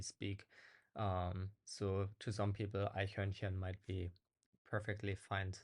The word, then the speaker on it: Eichhörnchen: Today I will show you 5 German words that are difficult to pronounce according to my students. So word number 1 is Eichhörnchen, which means squirrel in German.